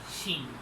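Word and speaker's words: 心: It is pronounced as shin.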